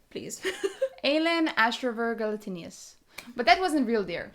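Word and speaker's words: Aelin Ashryver Galathynius: Please pronounce the name, please. Aelin Ashriver Galatinius.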